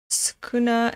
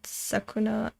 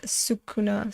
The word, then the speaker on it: Sukuna: the is it pronounced skuna and not sakuna yeah sukuna sorry worry good part